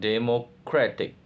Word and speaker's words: democratic: Democracy become democratic. Stress change. Democracy and democratic.